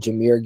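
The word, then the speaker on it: Jahmyr: and the fact that you just called Jamir Gibbs Jamar Gibbs is a really bad look for the channel you're going one step too far on these uh mispronunciations here I know it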